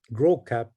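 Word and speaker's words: Gros Cap: he got here to what is called gross cap grow cap in in French or now we we pronounce it in English grow cap it nush was really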